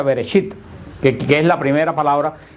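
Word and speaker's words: בראשית: Por eso el libro de Génesis en hebreo se pronuncia Bereshit, que es la primera palabra que sale de la revelación de Dios, que quiere decir en el principio.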